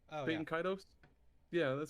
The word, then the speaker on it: Baten Kaitos: to pronounce it right or not, but I pronounce it Baten Kaitos. Oh yeah. Baten Kaitos.